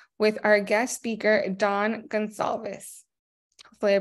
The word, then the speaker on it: Gonsalves: is bookkeeping 101 with our guest speaker Don Gonzalez hopefully I pronounced that right that was good my name